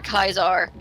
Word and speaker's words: Caesar: Fallout New Vegas where they would either say the word Caesar or Kai's are and depending on how they pronounced the name would actually indicate to you who was on whose side so if they said Kai's are they actually set they usually were siding with the Legion if they said Caesar